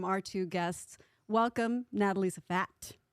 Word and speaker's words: Zfat: Welcome, Natalie Zfat. Zfat. You got it. I said it right. Yes. Z-F-A-T.